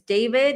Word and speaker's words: D4vd: His name is David. It's spelled the way that it's on the way that you see it on the thumbnail.